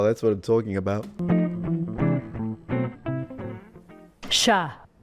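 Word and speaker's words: chat: So even though the French just put T here as a Christmas decoration but they don't pronounce it which kind of exemplifies 95% of their writing system still sha we there is a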